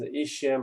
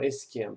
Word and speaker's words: ischium: and posteriorly and inferiorly this is ischium or ischium so both pronunciation is okay ischemic so these are